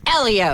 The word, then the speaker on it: Helio: He's Sam Hornes Jr.'s teammate who's very hot and it's pronounced Elio.